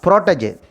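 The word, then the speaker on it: protégé: Here, protege, we should pronounce the protege. It is French origin.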